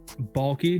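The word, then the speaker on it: Baalke: __ ] do it balky it's bulky trinity trent balki uh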